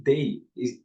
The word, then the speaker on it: they: Neste caso, deste pronome, a gente vai colocar a língua entre os dentes e soar.